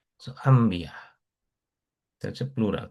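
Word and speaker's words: أنبياء: এরকম যে এই নুনের পরে যেহেতু বা আসছে, এই জন্য এটা নুন সাধারণত উচ্চারণ করতে আরবদের কষ্ট হয়, আনবিয়া বলতে কষ্ট হয়, এই জন্য এটা বলে আম্বিয়া। এটা মিম উচ্চারণ, আম্বিয়া।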